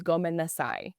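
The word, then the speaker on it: ごめんなさい: So I'm sorry in Japanese is goasai. So go go men men na sai sai goasai goasai goasai goasai.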